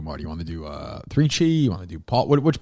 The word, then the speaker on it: 3Chi: You want to do 3Chi? You want to do which policy? Which one do you want to do? Let's see. We can do 3Chi, yeah.